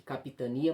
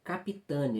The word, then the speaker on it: Capitânia: Eu tinha falado aqui Capitania, mas é Capitânia. Eu acho que eu pronunciei errado aí no início do vídeo.